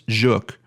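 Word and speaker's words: Żuk: I'm saying that right some people in the comments were trying to help me get that pronunciation A little bit better I believe it's juk um but I was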